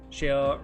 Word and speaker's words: Shale: Shale rhymes with male.